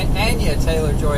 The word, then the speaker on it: Anya Taylor-Joy: Anya Taylor-Joy is how she pronounces her name.